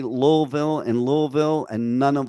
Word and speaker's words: Louisville: here in Kentucky who don't even know how to pronounce louville right they pronounce it louville it's Louisville was it King L